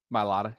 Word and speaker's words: Mailata: Mailata, yeah.